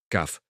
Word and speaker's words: cough: Se escribe cog y aunque parezca complicado, se pronuncia kaf.